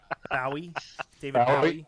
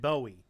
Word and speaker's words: Bowie: float outside and die bowi David me David you mean David Bowie I mean David Bowie he's British I get to decide to pronounce his name no no he even pronounces his own named David Bowie that's only because he's